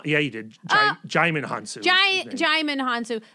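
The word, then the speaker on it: Djimon Hounsou: I actually, the underuse of Digimon Hanzo, that guy's amazing. Did I say his name wrong? Yeah, you did. Jaimin Hansu.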